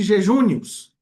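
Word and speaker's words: jejunus: Quando surgem os idiomas, né, e o e o latim, né, os romanos usavam o termo derivado jejunos, né, pronuncia-se jejúos.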